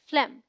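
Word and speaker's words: phlegm: बलगम आता है राइट अगर इसे आप फ्लैग में बोलते हैं तो वो रॉन्ग प्रोनंसिएशन है द जी is silent P एच एल ई जी एम इज one syllable and sounds like फ्लेम which rhymes with हेम short E sound we से फ्लेम नॉट फ्लेम सो द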